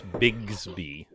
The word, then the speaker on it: Bigsby: yes and I pronounced it wrong it's Bigsby biggs biggs be shaping armor podcast episode